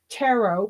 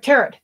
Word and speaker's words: tarot: So, but that was the influence of the Angels Tarot. Please never tarot. It doesn't rhyme with carrot. It's a French word.